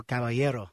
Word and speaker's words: Caballero: Now, there's a more official way to say it. Yeah, you know, it's correctly pronounced. It's Caballero. That's my name.